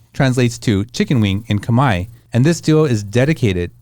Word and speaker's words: Khmer: That's the Khmer language. Yeah, it's spelled differently from what it says. So you say Khmer, then they understand that you understand the language.